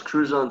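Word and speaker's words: Crouzon: said it right on it's cruise on syndrome it's like crouton that you put on your salad with a z right and i didn't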